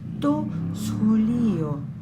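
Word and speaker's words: σχολείο: To scholio. Es una J suave, casi una H aspirada. To scholio.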